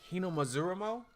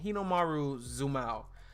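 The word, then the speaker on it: Hinomaru Zumo: If you like sports and you want to jump outside the realm of regular sports, you got Hinomazurumo. Sumo wrestling, pretty much. I said it wrong. Hinomaru Zumao. It's sumo wrestling, but it is really damn good.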